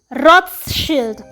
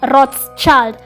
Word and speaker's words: Rothschild: Around 2008, he joins the, wait for it, Rothschild. That's how you say it in German. It means a red shield. The Americans pronounce it as Rothschild.